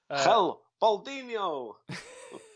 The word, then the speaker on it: El Baldiniho: Hell, Baldiniho. That's the proper pronunciation.